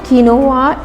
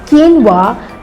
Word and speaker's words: quinoa: It's not quinoa, it's quinoa, the correct way of pronouncing it.